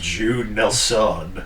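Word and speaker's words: Judd Nelson: his name again Jud Jud Nelson Jud Nelson Nelson Nelson yeah easier to pronounce than Killian Murphy it's actually pronounced Jude Nel son okay fair enough deante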